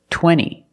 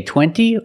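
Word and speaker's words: twenty: Center or this word 20. you can say 20 or you can say 20. most Americans will say 20.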